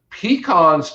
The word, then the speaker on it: pecan: do well up there pecans definitely will you can grow pecans successfully from about gainesville north and you said it right because gainesville north those are pecans not pecans those are pecans pecans and you can grow the